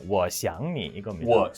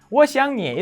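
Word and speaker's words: 我想你: " 하지만 어떤 사람들 은 이렇게 발음 하기 도 합니다 . 특정 지역 의 방언 을 들어 보면 , 어떤 사람들 은 "Wó xiáng nǐ" 라고 말 하기 도 합니다 . 예 . 하지만 그건 표준 이 아닙니다 .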